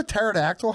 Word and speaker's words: pterodactyl: what do you know pterodactyl has a silent P it's unreal that word